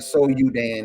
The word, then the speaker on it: Sudan: Now, one of the biggest kingdoms that I seen before the Berlin Conference was this kingdom called Sudan, or Soudan, as some people pronounce it.